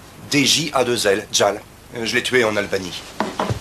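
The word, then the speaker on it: Djal: Ça s'écrit J-E-L. Gel. Non, Jelly peut-être. Tiens, ton café. Merci. Ah non, c'est... DJ à deux L, Jal.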